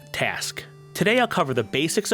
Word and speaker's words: TASQ: which I'll shorten to the acronym TASQ, pronounced TASQ.